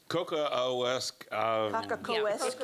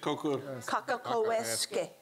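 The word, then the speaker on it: Cockacoeske: Can you pronounce her name for me? Anybody? I have the same problem. Kaka-ko-esque. I almost have to say it. Kaka-ko-esque.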